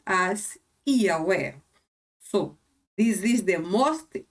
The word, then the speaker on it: Yahweh: I adopted to call or to mention his name like Yahweh, because in my opinion, Yahweh is the pronunciation which comes close or is closest to the original.